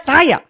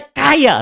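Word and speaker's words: חיה: Hidup, tulisannya C-H-A-Y-A-H. Ini bahasa Ibrani, bukan bahasa India. Kalau bahasa India bacanya cahaya. Cahaya, cahaya, cahaya. Tapi kalau bahasa Ibrani bacanya kaya, saudara.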